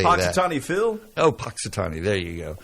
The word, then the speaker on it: Punxsutawney: Oh, Punxsutawney. There you go. How do you pronounce Powhatan or that?